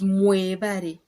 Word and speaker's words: mwebale: If it's plural, like you're telling a lot of people, it's mwebale emirimo. Instead of webale, a single person is we bale.